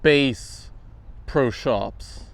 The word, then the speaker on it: Bass Pro Shops: Shops like the guitar bass pro shops. Apparently, it's pronounced Bass Pro Shops because it's clearly named after the fish, not the musical instrument.